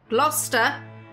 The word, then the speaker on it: Gloucester: Gloucester and Leicester. Or Gloucestershire and Leicestershire. You got the glo and the less.